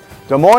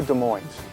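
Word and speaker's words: Des Moines: cuz they play hockey de Mo Iowa is De Mo or de Mo de Mo the S is silent like a PE in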